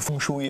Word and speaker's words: Feng Shui: Es hat tatsächlich Feng Shui. Ihr sagt es immer, aber es wird tatsächlich Feng Shui ausgesprochen.